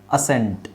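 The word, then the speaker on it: ascent: ಸೈಲೆಂಟ್ ಮಾಡಬಹುದು ಈಗ ನೋಡಿ ಎಲ್ಲಿ ನಾವು ಎಸ್ ಸೈಲೆಂಟ್ ಮಾಡೋದಾದ್ರೆ ಇದರ ಉಚ್ಚಾರಣೆ ಏನಾಗುತ್ತೆ ಅಸೆಂಟ್ ಅಸೆಂಟ್ ಅಸೆಂಟ್ ಅಥವಾ ಅಸೆಂಟ್ ಈಗ ನಾವು ಸಿ ಸೈಲೆಂಟ್ ಮಾಡೋಣ ಸಿ ಸೈಲೆಂಟ್ ಮಾಡಿದ್ವಿ ಇವಾಗ ಏನಾಗುತ್ತೆ ಅ ಸೆಂಟ್ ಅಲ್ವಾ ಅ ಸೆಂಟ್ ಹೌದು ಸರ್ ಹಾ ಸೋ ಇಷ್ಟೇ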